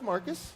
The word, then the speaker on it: Marquis: I was calling him Marquis because that's how it's spelled, but it's actually pronounced Marcus.